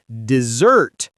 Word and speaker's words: dessert: Be careful with pronunciation. Desert, one S, is the hot place with sand and camels. Dessert, two S's, is the sweet food. You stress the second part, dessert.